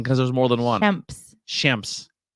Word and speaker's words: Shemps: Shemps. Yeah, but you're making it an I instead of an E.